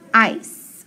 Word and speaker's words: ice: i consonant e so long i silent e and then that s or that c is in front of an e so it's going to make an s sound so ice ice coldness of shaved ice